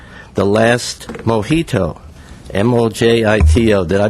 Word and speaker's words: Mojito: He's written his latest collection of poems is called The Last Mojito, M-O-J-I-T-O. Did I mispronounce that, Mr.